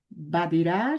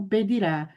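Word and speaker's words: בדירה: Mas observe que eu pronunciei badirá e não bedirá. Se eu pronunciar bedirá, aí será em um apartamento. Como eu pronunciei badirá, significa no apartamento.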